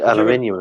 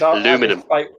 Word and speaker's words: aluminium: He said aluminium as well. Oh, aluminium. But the American way is aluminum.